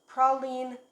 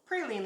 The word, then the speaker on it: praline: Today we are going to make a chocolate praline layer cake, or praline layer cake, depending on how you pronounce it. Both pronunciations are correct, by the way.